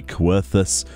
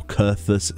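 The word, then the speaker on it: Coerthas: me has to be querthus or curthus central highlands depending on how you pronounce that it's pronounced both ways in the storyline where can i even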